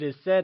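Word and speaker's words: 意思: two syllable word where E is pronounced using a falling tone and su is pronounced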